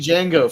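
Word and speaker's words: Django: the yeah H Jonathan the D is silent frano Nero yeah OG Jango frankco Nero Jacob his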